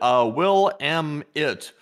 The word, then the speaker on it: Willamette: And Trism said, Willamette River and LSA.